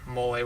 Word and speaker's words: mole: I didn't know what moly was but it is spelt the same as mole just with a slight accent and that's a very significant accent because it's similar to the pronunciation of Nestle and the typical thing